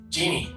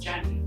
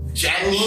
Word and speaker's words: Jeannie: to go now miss Genie welcome to the show thank you uh I also have to start to say that it's actually pronounced Jenny Jenny yeah and the reason